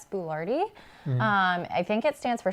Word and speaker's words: boulardii: Which makes sense because there's 2 I's at the end of it. Right. So. But if you remember it, Chef Boyardee, but Boulardii. So we talked about gut